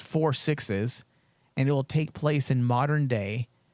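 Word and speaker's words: 6666: And then there's another one called 666, pronounced 4 sixes, and it will take place in modern day, contemporaneously to Yellowstone.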